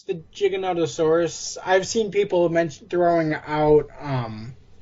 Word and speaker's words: Giganotosaurus: They seem to be coming to the Gigantosaurus, or how do you say it? Giganotosaurus.